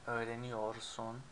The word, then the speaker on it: öğreniyorsun: remembered, in spoken language, we don't pronounce the R in ior in most cases, like for sen, the second one, sen öğreniyorsun is usually pronounced without the R. So sen öğreniyorsun, sen öğreniyorsun, we skip the R.